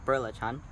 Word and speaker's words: belacan: the packaging actually serves Bela Khan but the pronunciation is birla tongue so cool Hong Kong bullet John is a very popular dish in Malaysia if